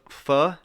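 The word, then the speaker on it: phở: All right, so I got owner of Pho King Good Noodle Shop says he's not in on the joke.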